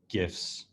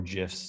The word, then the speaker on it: GIF: the ability to use gifts or gifs depending on how you like to pronounce it so we support gifts